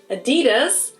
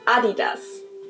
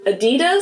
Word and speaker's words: Adidas: they were referring to, because they usually pronounce it Adidas, and in Germany we say Adidas. Adidas.